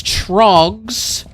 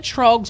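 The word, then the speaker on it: Tröegs: It is Trogs, which we've had Trogs on the show show before. It is spelled T R O E G-S.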